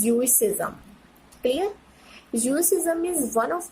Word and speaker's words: Judaism: It's pronunciation is ज्यूइसिज्म।